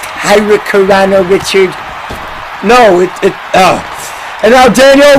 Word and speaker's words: hurricanrana: It's pronounced hurricanrana, Richard.